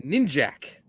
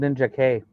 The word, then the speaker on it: Ninjak: a ninja and we're gonna call him ninjac I came out later that it was actually called ninja k that's how we were supposed to pronounce it yeah so Valium was